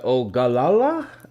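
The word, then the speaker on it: Ogallala: adjacent to the I'm going to butcher this pronunciation, Janna. The Ogalala Aquifer. I don't know how to say that. Ogala Aquafer.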